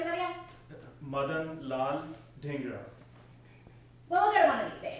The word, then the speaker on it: Madan Lal Dhingra: Madan Lal Dhingra.